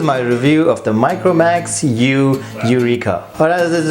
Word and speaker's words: YU: So it's very interesting to see the new U brand pop up. It's YU and pronounced U.